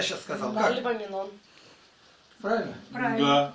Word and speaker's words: Паралипоменон: Паралипоменон.